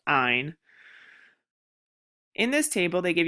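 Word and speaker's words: -yne: They sound all kind of similar, but ane is ane, ene is ene, and yne is actually pronounced eine.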